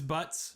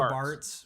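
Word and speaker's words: Bartz: The PlayStation version was Butts, right? And then was it the Game Boy Advance version? It was corrected it to Barts, which is the official spelling and pronunciation and everything after that.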